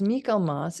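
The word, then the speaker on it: Michaelmas: and in Christian traditions Michael Moss or sometimes pronounced Mikel Moss is celebrated on September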